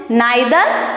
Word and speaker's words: neither: We can pronounce it neither or we can pronounce it neither also.